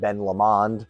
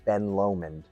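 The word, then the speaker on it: Ben Lomond: Uh, I just learned that that's the proper way to uh pronunciate. Uh, I always called it Ben Lamond. I don't know if that's just my New Yorker in me, but uh it's it's called Ben Lomen.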